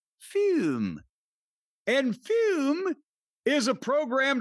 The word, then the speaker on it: FÜM: But, it's pronounced like our friend Plume over in Norway, Fume.